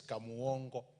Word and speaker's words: Kamuongo: Honorable Speaker, it is Kamuongo. That's the way we pronounce it down there.